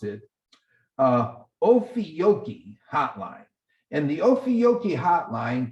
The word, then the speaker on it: Ophiuchi: Here's how you, excuse me, here's how you pronounce it, Ophiuchi Hotline.